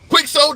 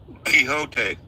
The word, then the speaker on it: Quixote: I'm curious how to pronounce that name. I've been wondering. Quicksoul, is that what I'm reading? Quixote.